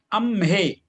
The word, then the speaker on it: अम्हे: नहीं, आपका ना उच्चारण में ई का वो आ जाता है उच्चारण, जैसे बोलिए ना, ए का होना चाहिए।